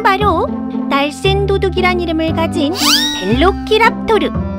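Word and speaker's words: Velociraptor: 그건 바로 날쌘 도둑이란 이름을 가진 벨로키랍토르. 영어 발음으론 벨로시랩터라고도 하지.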